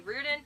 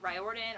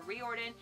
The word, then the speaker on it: Riordan: the way I say Riordan that's the way we pronounce it here in Ireland Rick Riordan it's an Irish cernium Riordan I know people say Riordan or reordan it's Riordan I don't